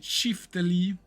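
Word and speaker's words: çifteli: Prononcé Chiftali ou Dizen et Kara Dizen est un instrument de musique du Kosovo et de l'Albanie.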